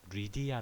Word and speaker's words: 리디아: 리디아의 어원으로 알려져 있습니다 영어로는 리디아 헬라 오늘은 루디아 라고 발음하는 데 영어회화 2 와 헬라어 에 6실 논의 대문자 표기가 동일하 줘 그래서 헬라 위 신혼의 위 발음을 하면 리디아 라고 발음 되기 때문에 영어 발음과 벨라 바로 모두 만족시킬 수 있다 생각합니다 오늘 보여드릴 영상의